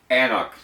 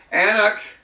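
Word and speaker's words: An Cnoc: Annoch, and you can see the spelling of it there. The C is silent.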